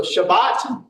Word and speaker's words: Shabbat: So, Shabbat is how you would typically hear it pronounced. Um, we kind of anglicize it to Sabbath.